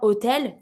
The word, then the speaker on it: hôtel: Habitant, hôtel, there's no H at all. If there's no H at all when I'm pronouncing it, I can do my link.